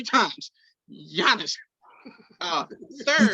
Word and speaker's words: Giannis: His name is Giannis. The G is silent. You said it 3 times. Giannis.